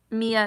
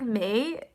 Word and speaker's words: Mai: Mia, is that right? Oops, I'm so dumb. It's like May, because in Japan, Mai is pronounced like May.